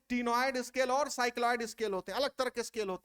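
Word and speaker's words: ctenoid: T silent है टीनोइड में, टीनोइड scales.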